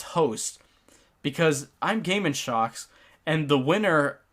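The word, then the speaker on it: Sjokz: of shocks I mean it's it's spelled s-j-o-k-z um but it's translated to shock so what happened to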